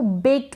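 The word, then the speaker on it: baked: होगा, सी एच होगा, तब हम इस ईडी को प्रोनाउंस करेंगे ट, और ये वॉइसलेस होगा, इसका साउंड नहीं आएगा।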